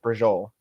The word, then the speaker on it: braciole: That is spelled Braciole, but you pronounced it brajol.